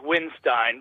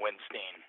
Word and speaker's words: Windstein: Well, the correct pronunciation is Windstein, but you know, if you really want to dress him properly, you call him the Riff Lord or the Beard of Doom. Those are just as acceptable as Windstein, Winstein.